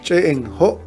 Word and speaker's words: Ch'e'en Jo': por los arqueólogos modernos se pronuncia en job y se traduce como